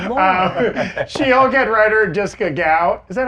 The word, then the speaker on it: Gao: She-Hulk head writer Jessica Gao. Is that how we're pronouncing her last name?